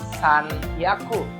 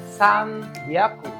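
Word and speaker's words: 三百: Kalau mau bilang 300 bukan san hyaku, tapi san hyaku. Hyaku bukan hyaku. Gitu. Ada perubahan pengucapan di situ.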